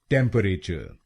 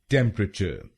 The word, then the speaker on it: temperature: टेम्परेचर, टेम्परेचर। इस शब्द में 3 शब्दांश हैं। पहला शब्दांश है TEM, दूसरा शब्दांश है PERA और आखिरी शब्दांश है TURE। पहले शब्दांश को यानी TEM हम बोलेंगे टेम, टेम।